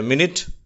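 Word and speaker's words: minute: யூ என்ற உச்சரிப்பு கொண்டவை அடுத்தது எட்டாவது விதமான உச்சரிப்பு ஈ என்று சொல்லி எழுத்து யூ தான் யூ என்ற எழுத்து தான் ஆனால் கொடுக்கும் உச்சரிப்பு ஈ என்ற உச்சரிப்பு அதற்கு உதாரண வார்த்தைகள் பிஸி மினிட் அந்த மினிட் என்ற வார்த்தையிலே வரக்கூடிய யூ என்ற எழுத்து இ என்றுதான் உச்சரிக்கப்படுகிறது 500 இம்பரேட்டிவ் சென்டன்சஸ் 500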